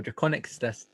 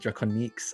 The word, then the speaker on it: Drakoniques: People pronounce it Draconiques, and I guess that technically is how you normally pronounce it, but no. I'm doing a bunch of stuff.